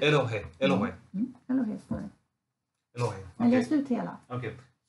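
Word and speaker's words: אֱלֹהִים: Och sen kommer Elohim. Är det inte öppet där? Kommer inte luften ut? Elohim. Det står inget. Det står ett H. Öppet. Luften kommer ut. Elohim.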